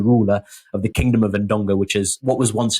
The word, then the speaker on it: Ndongo: So this is Nzinga of Ndongo. Yes. Have I pronounced that right?